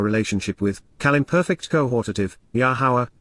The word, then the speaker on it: Yahowah: with, Kal imperfect cohortative, Yahowah, Yahowah, the Almighty's proper designation pronounced as instructed by His Torah, guidance on His higher, existence and His role in our Shalom, reconciliation as our Eloah, God.